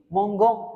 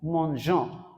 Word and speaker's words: mangeons: If you don't add E, it is going to be mongon. That is breaking the pronunciation, and that is wrong. So in avoid such mistake, French grammar says you have to add E. So then it will sound like this, nous mangeons, nous mangeons.